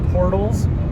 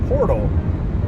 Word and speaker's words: porthole: the lights, like the portholes, which is something we found out on a live stream a while ago, is that I often will pronounce porthole as portal, which are two different things.